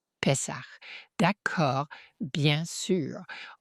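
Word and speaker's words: Pesach: Pessar. D'accord. Bien sûr. En hébreu, il le prononce pest pessa. Ils avalent un peu le fin du mot et s Mais vous entendrez des anglais qui le prononcent Pac.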